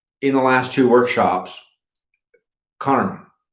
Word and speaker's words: karma: the last two workshops karma i don't like to put the a on the end because that's a an a that's an english expectation the true pronunciation is cutter and it means action